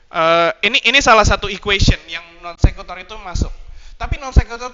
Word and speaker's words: non sequitur: Oke, that's how you say it, non sequitur.